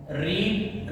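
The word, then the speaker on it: read: Third form been, बेटा रीड रेड pronunciation change हो जाती है लेकिन स्पेलिंग सेम रहते हैं, बाय हर, the book will not have been रेड बाय हर।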